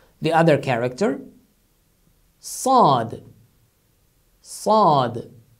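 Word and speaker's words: ص: This is the same S in English, but it is articulated with much emphasis. Instead of saying Sad, you emphasize it stronger. Sad. Sad. As if you have put something in your mouth and you pronounce it.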